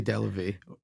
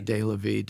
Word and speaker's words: Delavie: a Boston accent but I say delavie or de la vid it all depends okay you know if